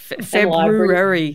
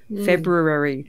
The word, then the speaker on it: February: struggle all the time with February is that Bloody R the first R February you need to do the Pete Smith thing of saying that that ah February I can't do it